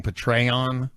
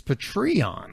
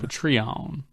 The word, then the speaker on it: Patreon: Apparently, I have been saying Patreon. Yeah. It's Patreon. Patreon. Like patrons, I guess. For eons.